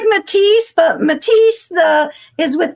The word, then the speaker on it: Mattice: It's like Matise, but Matise the is with two S's. This is the way to pronounce it that's Italian.